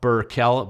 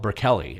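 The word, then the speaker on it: Bukele: Now, Naib Burkel, Burke Kelly, actually is how you pronounce it.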